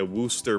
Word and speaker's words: Worcester: that for years war Chester Shire yeah yeah Wooster Mass oh is that it yeah scos the